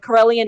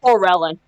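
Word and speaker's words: Corellon: It's pronounced in many ways, but Corellian is correct. Yeah, a lot of it's people pronounce close. it as Corellin.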